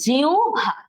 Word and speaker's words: জিহ্বা: সঠিক উচ্চারণ হচ্ছে জিহ্বা। জিউ ভয়াকারে ভা, জিহ্বা, রস্য আর ভ।